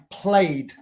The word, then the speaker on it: played: Any other letter in the English alphabet before ED, we don't pronounce the E. For example, played.